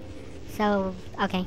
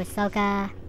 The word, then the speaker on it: Ahsoka: thing switch back to Ahsoka if I'm saying the name wrong I'm really sorry but I think it's sooka